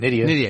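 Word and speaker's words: Nydia: Nidia.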